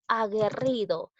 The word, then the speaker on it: aguerrido: Continuamos con la palabra aguerrido. Observo dos vocales seguidas, que es la U y la E. Pero en este caso yo no pronuncio la U.